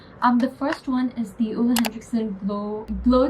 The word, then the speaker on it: Henriksen: Also it's pronounced HENRIKSEN, not HENRIKSEN.